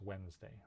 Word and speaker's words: Wednesday: it's kind of that first d in wednesday usually isn't pronounced i have known a few people who say wednesday but usually it's wednesday right next sound up